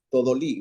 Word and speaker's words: Todolí: Buenas tardes, don Todolí, ¿verdad? Con acento en la I.